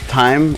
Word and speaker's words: thyme: me the time please time with a th it's pronounced thyme or thyme how do you say it's time it's not fine it's